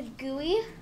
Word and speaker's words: GUI: so the next one is a gooey uh it's spelled GUI and it's an acronym